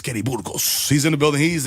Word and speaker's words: Burgos: I'm Latino, so I'm going to say it correctly. I know a lot of people, Kenny Burgos. None of my teachers have said that, so I appreciate that. Kenny Burgers.